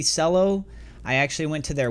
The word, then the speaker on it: Celo: Taking a look at this, it is called CGLD, also known as, I believe it's pronounced Celo. It might be Celo.